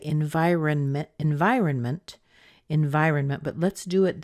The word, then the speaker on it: environment: and by the way that auntie at the end of environment that's a combination sound of the N and a tea and mint but you don't hear a really strong tea in there but the N is very short and it makes up for the shortness of the T so environment environment we